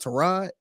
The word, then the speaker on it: Tyrod: or something and he he says pronounced Torah it's like why the did you ain't say you ain't say that five years ago yes like I think they may call you Tyron since she was in college and now you're gonna he says Ashley pronounced to rod yeah I want to